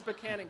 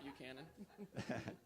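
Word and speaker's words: Buchanan: it's B it's in it's banan County it's not bu Canon actually I had a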